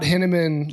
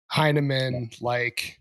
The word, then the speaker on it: Hinaman: Not Hinneman like cinnamon. Yeah. Heineman Like Heineken.